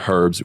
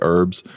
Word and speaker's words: herbs: too many syllables um herbs you drop the h and just say oh sorry you add the h and say herbs we drop the h and say herbs um it sounds like